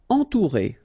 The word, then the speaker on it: entourer: Entourer. Okay, nasal, en, then O and U together, ou.